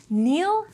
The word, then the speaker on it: kneel: The K in kneel is silent, so the first consonants of these words actually sound exactly the same.